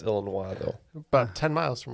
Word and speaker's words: Illinois: Yeah, he's actually grew up It's pronounced Illinois, though.